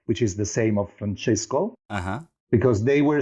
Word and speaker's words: Francesco: Francesco. Is that the good pronunciation?